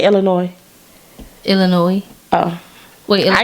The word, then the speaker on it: Illinois: How you say Illinois? Illinois. Oh, Wait, Illinois. I guess I said it first. Illinois. No, I never said Illinois. because the S is silent, like patois.